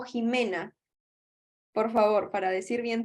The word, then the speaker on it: Ximena: Ximena, dime si se pronuncia Ximena o Jimena. Por favor, para decir bien tu nombre. Jimena, está bien. Jimena, con J.